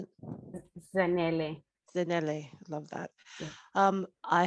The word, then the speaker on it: Zanele: Zanele.